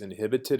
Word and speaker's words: inhibit: inibiri uh word families inhibited as an adjective or inhibitions is a noun notice that this h is silent normally but for some reason